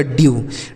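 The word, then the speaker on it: dew: तो यह हो गया ड्यू। डी ई डब्लू ड्यू हो गया।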